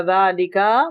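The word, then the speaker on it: ذٰلِكَ: Hada baytun wa dhalika masjidun. Dhalika is pronounced dhalika, इसमें अलिफ लिखा हुआ नहीं है,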